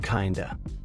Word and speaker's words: kind of: Word 8, kind of, often pronounced kinda.